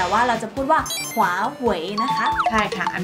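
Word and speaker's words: 华为: เรียก กัน นะ คะเรา จะ ไม่ พูด ว่า Huawei แต่ ว่า เรา จะ พูด ว่า ขวา เหว่ย นะ คะ ใช่ ค่ะ อัน นี้ คือ เสียง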